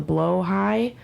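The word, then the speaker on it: Blåhaj: plush from Ikea called the blo high which I only know how to pronounce because I am trans but it's it's spelled like blahaj B with some crazy umls and stuff and it's just a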